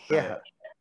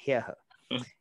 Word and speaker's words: ह्यः: उसको कहते हैं ह्यः, तो ह आधा है और फिर यह, तो ह्यः का जो उच्चारण है थोड़ा सा जटिल हो सकता है, पर आपको समझ में आ गया तो कर सकते हैं ह्यः। इसको मैं हिंदी इंग्लिश में भी लिख देता हूँ थोड़ा सा ह्यः, इस तरह से उसका उच्चारण करते हैं।